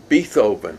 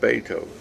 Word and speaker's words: Beethoven: uh who wrote something i said be co bethoven you know that's how you pronounce it and she said no it's pronounced beethoven so i remember that to this day that